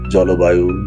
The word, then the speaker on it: জলবায়ু: জল আলাদা শব্দ। বায়ু আলাদা শব্দ। কিন্তু একত্রিত হলে এটির এই ল এর সঙ্গে যে অ রয়েছে সেটি সংবৃত ও এর মত হবে। যেমন জলবায়ু, জলপ্রপাত, জলকেলি ইত্যাদি।